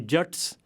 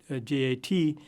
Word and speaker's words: Jat: The majority of the Sikh community are actually Jats, and I've spelt it here using the most common spelling of J-A-T. In Hindi, this would be pronounced Jat with a long A sound, but in Punjabi it